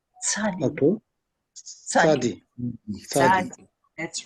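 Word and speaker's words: צדי: Make it more with a T. Tzadi.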